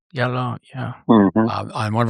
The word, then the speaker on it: Diallo: But the other guy, the Canadian, how do you pronounce his name? Diallo? Diallo, yeah.